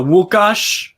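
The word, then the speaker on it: Łukasz: and comes on uh wukash that's how you say it in polish uh nufc hawaii the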